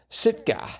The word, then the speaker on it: Sitka: First capital of Alaska, Sitka. Right. I wanted it to be long A, except it isn't. It's a short A for Alaska.